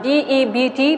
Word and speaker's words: debt: they still result in debt okay now d e b t b is silent their debt okay debt so they used to